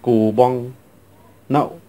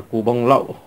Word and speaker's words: cù boong lậu: Hay còn gọi có tên gọi khác là cù bong nậu. Đấy nha. Cũng có người thì đọc là cù bông lậu.